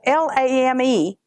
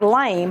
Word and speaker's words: lame: Now, it's spelled L-A-M-E. It looks like lame, but it's actually called a lame.